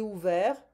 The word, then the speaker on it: ouvert: J'ai ouvert. Découvrir is to discover. J'ai découvert. Offrir is to offer. J'ai offert. We don't pronounce the T, hein?